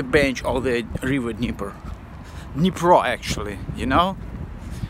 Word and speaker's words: Dnipro: The river calls Dnipro. The city calls Kyiv. Not Kyiv, not Dnieper. Because we have two kinds of pronunciation, Russian one and Ukrainian one. So in USSR it was city of Kyiv and the river Dnieper. And Ukrainian ones is the city of Kyiv and the river Dnipro.